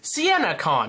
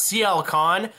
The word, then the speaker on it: Sienna Khan: It's Sienna Khan, not CL Khan.